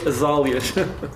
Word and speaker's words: azáleas: E eu acho que se pronuncia azáleas.